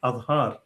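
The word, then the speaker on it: آذر: Pronouncing it, however, just as it is pronounced in Arabic, although the original Persian pronunciation was Adhar, nearly the same as the form used by Eusebius.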